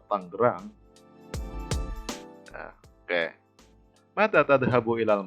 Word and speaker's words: Tangerang: Nah, sekalipun tulisannya Tanjiron, kalian bacanya jangan Tanjiron, tapi tetap Tangerang.